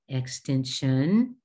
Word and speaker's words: extension: Similarly, this is extension, sion, not sieon but sion. Darn.